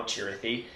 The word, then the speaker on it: Chirithi: there was this great scene where they all were being shown what a Chirithi was, and that's the official pronunciation now, Chirithi.